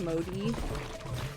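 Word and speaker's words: Mudi: It's pronounced modi.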